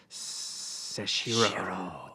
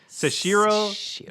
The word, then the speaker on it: Seshiro: But this one is Seshiro, the Anointed. Seshiro, the Anointed.